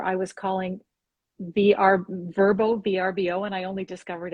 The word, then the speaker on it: Vrbo: apartment or vacation property vrbo that's how i always called it that and then somebody said i heard that it was a verbo and i'm like oh god i've been saying it wrong for years yeah so um